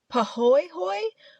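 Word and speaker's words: pāhoehoe: So the different lava types that are found in this park are I'm trying my best on the pronunciation, I just have to say. Pahoehoe, which is a smooth and ropey type of lava that it dries as.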